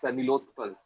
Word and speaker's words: Nilotpal: Is it Nilothpal? Can you please tell me? I've unmuted you. Like, I really struggle Yeah. to pronounce your name. No, no issues. Yeah, it's Nilotpal.